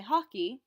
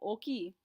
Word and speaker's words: hockey: o oki pretty simple the hardest thing about cognates is simply remembering to say them with the accent you can't say o hockey doesn't make any sense the sentence doesn't flow anymore remember we don't pronounce